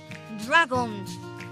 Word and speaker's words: dragon: Que en inglés sería ¡Dragon! Cargamos la fuerza de la pronunciación en la A, y en inglés ya, como sabéis, no existen las tildes.